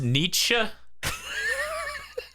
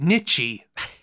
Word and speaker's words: Nietzsche: Feel it's pronounced Nietzsche. Oh my god, I'm dying. Right, Nietzsche.